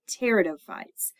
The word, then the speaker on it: pteridophytes: And they are the lycophytes and the pteridophytes. That P is at the beginning of the word pteridophyte is silent.